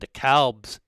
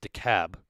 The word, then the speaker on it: DeKalb: chat and dekalb's eli although i think it's decab uh is how you pronounce it but me being a midwesterner even though i've lived in atlanta for six years i still pronounce it dekalb uh because i think there's a dekalb illinois but anyways i'm just